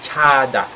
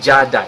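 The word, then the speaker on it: 자다: or sa Tagalog tulog in Korean we call it chada chada okay not jada It's never jada CL No it's Tada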